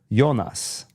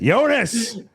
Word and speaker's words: Jonas: we were watching Dark there's a character yonas yeah Adam just said it yonas because the show is in German but it's spelled like Jonas and so I was